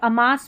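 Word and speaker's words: amass: Alone अकेला इसको अमा अमस या अमास भी पढ़ सकते हैं। अमस अमस इकट्ठा करना। अमास सही है। अमस करके यहां पर उच्चारण लिखा है।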